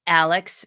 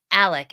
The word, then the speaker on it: Alex: this guy's name because it clearly is spelled a-l-e-x but I heard so many times today on the news Alec Alec Alec and if you